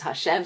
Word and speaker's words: Hashem: but with my name Hashem, which is spelt with a yud and a hey and a vav and a hey. That we say is Hashem, so I'm going to use the word Hashem.